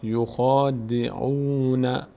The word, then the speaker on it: يخادعون: اینجا ن یوخا یوخا ببینید دهان به سمت بالا باز میشه نمیگیم یوخ یوخ اینجا یوخا دهن اینوری باز میشه یخا ده به سمت بالا میشه یوخا یوخا تلفظشو دقت کنید برگردیم این حرف تا اینجا میشه یوخا یوخا د یخا دیش نکنید یخ د عو واو بعدش ضمه بعدش واو صدای او میده یخا یخادعون تا اینجا